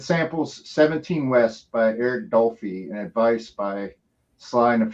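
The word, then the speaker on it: Dolphy: And it samples 17 West by Eric Dolphie and Advice by Sly and Family Stone. So yeah, Dolphie is the way that one's pronounced.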